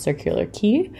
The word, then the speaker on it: Circular Quay: city this is the circular key area which is spelled Quay if you ever see a circular quay it's pronounced circular key so yeah it was